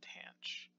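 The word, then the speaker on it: tanh: three most important ones are cinch cosh and tan CH so this first note that's in these printed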